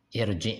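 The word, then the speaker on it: ارجع: Ra sukun dibaca tebal bila didahului hamzah wasal walau harakatnya kasrah. Sebab kasrahnya bukan asli tapi tapi baru datang, ya. Pada kalimat irji ya di surat An-Naml ayat 37.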